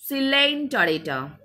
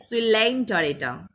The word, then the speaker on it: Coelenterata: It starts with C, but pronunciation will be Cnidaria or Coelenterata. Coelenterata. Co will be silent. Coelenterata.